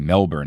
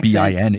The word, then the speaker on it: Melbourne: Australia and on tour they were telling me that I shouldn't call the city Melbourne, I should call it like Melbourne, almost like it's spelled like in the Australian Melbin.